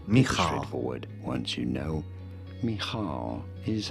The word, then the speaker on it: Michal: Michal. Michal. Pretty straightforward. Once you know, Michal is how it is said in Hebrew.